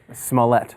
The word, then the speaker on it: Smollett: Smollett. Smollett. That's what I'm going for. He never mispronounces last names.